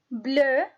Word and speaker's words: bleu: But the pronunciation is the same, bleu, bleu.